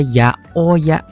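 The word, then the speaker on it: 八百屋: Ada tambahan catatan ini beda sendiri ada ya o ya.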